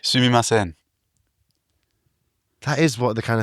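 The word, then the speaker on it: すみません: train, you just say sumimasen, which is often pronounced like suimasen.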